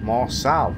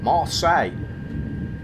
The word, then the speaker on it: Marseille: Marseille, it's pronounced. He's just said in the voiceover. What did I say at the beginning? Marcel. Marseille.